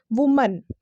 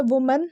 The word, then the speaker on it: woman: है WOMAN, that is वुमन। तो उसका सही जो प्रोनाउंसिएशन होता है वो होता है वुमन, ना कि वुमेन। ये कम्प्लीटली गलत प्रोनाउंसिएशन है।